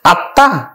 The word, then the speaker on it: আত্মা: এই আত্মা কিন্তু বাংলা উচ্চারণ, যখন বাংলা আমরা উচ্চারণ করব তখন কিন্তু আত্মা উচ্চারিত হবে, অর্থাৎ এখানে ম ফলাটা যুক্ত আছে ত এর সাথে, এই তটা কিন্তু দুইবার উচ্চারিত হবে।